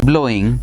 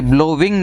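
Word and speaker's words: blowing: ये ब्लोविंग नहीं होता, ब्लोइंग होता है। इंग का प्रयोग करें, विंग शब्द को प्रोनाउंस करते हैं ओके है, लेकिन जिन जिन वर्ड्स में WING आता है एंड में, उनको आप प्रोनाउंस करेंगे इंग।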